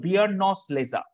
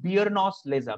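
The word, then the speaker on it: Beerenauslese: It's called Biernose Lese. I repeat again, Biernose Lese.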